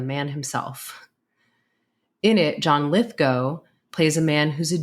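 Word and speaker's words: Lithgow: titled Terror at 20,000 ft in it John litho yes that's pronounced go not GW I was once corrected by the man himself in it John litho plays a man who's a genius when it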